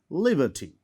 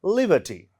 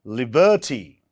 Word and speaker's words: liberty: so where where does the stress fall here on the first syllabus Liberty so we call this word Liberty not Liberty we say Liberty right next o p